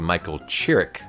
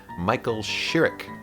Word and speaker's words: Michael Chirrick: Later on I call him Michael Chirrick, and he corrects me, so now I know what the proper pronunciation is Michael Chirrick.